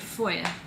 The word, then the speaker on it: feuille: And foil, which comes from the French word feuille. It's a hard word to describe, to pronounce.